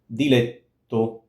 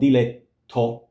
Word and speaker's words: diletto: So, diletto, to, it's a long T. Now, it's not diletto, it's not aspirated. It's not diletto, diletto.